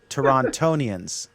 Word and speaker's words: Torontonians: And then Kevin Bryan says it's pronounced Torontonians.